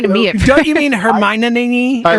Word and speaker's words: Hermione: So I got to just extend the I. Hermione. You put not a Hermione in there. You put a ninny at the end.